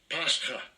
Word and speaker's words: Pascha: And that word is, we're just going to listen to the pronunciation. Strong's G 3957. Pascha.